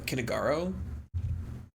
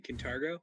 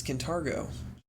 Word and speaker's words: Kintargo: back to that city you mean kintargo yes can targo see reading helps okay